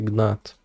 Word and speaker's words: gnat: What's a gnat? Komar. Gnat? O kurwa, ten komar ma gnata. Gnat, silent G is an insect. Holy shit.